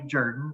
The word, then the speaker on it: Jordan: Now, it's pronounced by the family "Jerdan," as it's pronounced, uh, spelled "Jordan," I grew up with the word "Jordan" but the family actually pronounces it "Jerdan."